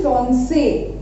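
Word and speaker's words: français: अब यहाँ पर अगर हम ये सेदी ना लगाएं, ठीक है, एक्सेंट, तो इसकी प्रोनाउंसिएशन होगी फ्रॉम के, ओके। बट विद एक्सेंट इसकी जो प्रोनाउंसिएशन है वो हो जाएगी फ्रांसे, यानी कि इसको सॉफ्ट करने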